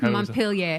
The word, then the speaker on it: Montpelier: Montpelier.